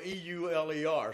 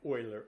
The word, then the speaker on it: Euler: The theory was next adopted by Leonard Euler, who is spelled E-U-L-E-R. So I always say Euler, but he's on me all the time, so his real name is Euler.